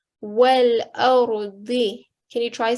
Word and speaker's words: والأرض: So rather than saying wal arzi, try to say wal ardi.